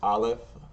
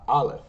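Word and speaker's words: Alef: In Hebrew, we know that this is going to be ah by the dash right here, or the T.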